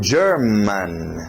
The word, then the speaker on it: German: Continuando, German. German. German. Olha esse final, para no N.